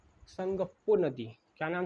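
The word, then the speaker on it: Tsangpo: संगप्पो। इसमें क्या है? टी साइलेंट है।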